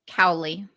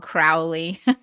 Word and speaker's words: Cowley: Julia, is it Cowley? Is that right? Cowley. Yeah. Cowley. Okay. Yep. Great. Cowley. I've been called Crowley so many times.